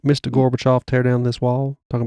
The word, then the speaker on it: Gorbachev: It said that the Soviets strongly opposed the SDI, and talks between Reagan and, I'm not sure how to pronounce this. Gorbachev.